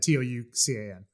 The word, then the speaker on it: Toucan: way we should say toucan is like the bird toucan sam type of thing it's it's not yeah it's spelled like that t-o-u-c-a-n yeah toucan um which